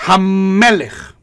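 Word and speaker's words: הַמֶּלֶךְ: Pero si yo digo Hamelech, es Hamelech. Esa M es larga.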